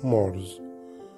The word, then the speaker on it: Mars: هنبتدي نقرأ البلانيتس مع بعض للكواكب: ميركوري، عطارد، فينوس، الزهرة او فينوس، ايرث، الارض، مارز، المريخ، في ناس بننطقها مارس، طبعا ده غلط، بننطقه مارز.